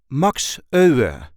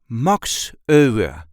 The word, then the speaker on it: Max Euwe: a regular Dutch accent MOX o the Dutch Grand chess master this is the way we say MOX o MOX there is a light emphasis on the first syllable of his last name MOX MOX o were